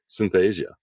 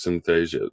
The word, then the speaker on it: Synthesia: to call it um Synthesia the product syth Asia which allows you to easily put together a video-based um module um or Synthesia I think is what it's how it's pronounced but the uh it